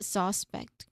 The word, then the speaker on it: suspect: So the stress syllable is pet. No, with a stress on the second syllable.